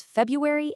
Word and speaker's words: February: So natural American English quietly drops the first one. It becomes February and library.